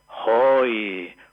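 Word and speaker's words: הוי: expresión de irritación en hebreo que se pronuncia hoi.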